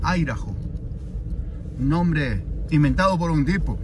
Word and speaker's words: Idaho: Se escribe Idaho, pero se pronuncia Idaho.